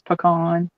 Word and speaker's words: pecan: Pecan pie? No, usually around here it's pecan.